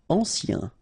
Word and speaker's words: ancien: Ancien. Remember, A-N, ancien.